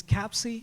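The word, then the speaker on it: Kapsi: and last name is Capsi with K A PSI PSI.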